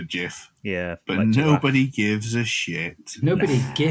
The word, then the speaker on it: GIF: similar sense of humor do we all pronounce it as GIF or is there any sort of preference for GF well the guy who created it his preference is for Jiff yeah but nobody gives